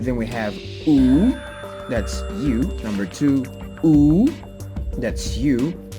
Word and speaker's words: yo: So also, guys, some Spanish speakers, they may tend to use it or to pronounce it as Joe, but it's not, it's just yo. And for some English speakers, you guys may say yo, but it's not, it's just yo, all right, in Creole.